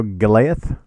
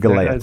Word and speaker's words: Goliath: everybody kill it yes how are we gonna pronounce that the Goliath Goliath there you go Goliath not good galette see ya guys it's gonna confuse me so